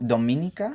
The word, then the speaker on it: Dominica: I don't know if it happens uh um How do you pronounce it? Dom- Dominica?